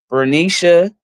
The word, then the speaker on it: Bernicia: However, Bernicia is how they say her name.